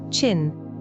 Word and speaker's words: Qin: China comes from the word Tin, pronounced Qin, the name of the dynasty that unified much of the country in the 3rd century BCE.